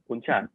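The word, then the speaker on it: bún chả: No, how do you spell that? So it's BUN BUN space CHA. CHA. And it's bun cha? Yeah, bún cha.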